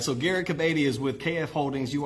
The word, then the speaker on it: Garrik Kebede: GARRIK KEBEDE.